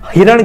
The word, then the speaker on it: हरिण: ने पूछे हैं और हरिण तो यहां पर आता है जो शुद्ध उच्चारण होता है दोस्तों शुद्ध उच्चारण क्योंकि हरिण ऐसा ही लिखा जाता है और कहीं बाद आपको ऐसा दिखाई दे कि यह हिरण वगैरह तो यह गलत होता है क्योंकि अपडेट उदाहरण